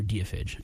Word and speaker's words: Deiphage: deophage all right uh dfage day of age I think they pronounce they prefer deophage if I remember correctly um I interviewed them